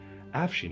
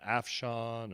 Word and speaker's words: Afshin: My name is pronounced Afshin, like Charlie Sheen with an AF in front. But everybody always mispronounces my name. I get Afshan and Asfine.